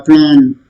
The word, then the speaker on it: aplomb: Aplomb, self aplomb, self, what you call confidence or self assurance. Aplomb. Okay, B is silent here. Aplomb. B is not pronounced.